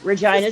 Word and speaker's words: Regina: Yes, that's the name, Regina, Saskatchewan. The city that rhymes with fun.